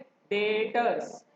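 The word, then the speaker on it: debtors: डेटर्स। डेटर्स, बी is silent, B बोलता नहीं कुछ, ठीक है उसमें।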